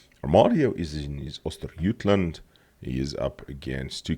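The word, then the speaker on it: Östergötland: Yes, it's pronounced Ostergotland, just like the skein is actually pronounced Squane.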